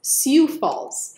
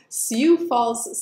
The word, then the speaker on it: Sioux Falls: number three spot and I am going to pronounce it correctly thanks to you guys siou Falls so Sioux Falls South Dakota let's take a look it looks